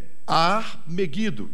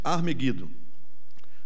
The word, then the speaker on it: Ar-Megido: Armagedon, presta atenção, a palavra em hebraico é Ar-Megido. O som é esse, Ar-Megido.